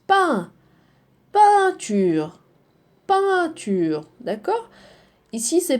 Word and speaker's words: peint: Non, ça se prononce peint. Peinture. Peinture. D'accord? Ici c'est peint, E-I-N. E-I-N c'est un.